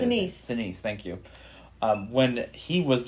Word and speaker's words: Sinise: Sinise, thank you.